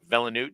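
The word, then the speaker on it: Villeneuve: do you say his last name V villanu villanu Denny villanu uh definitely did not do that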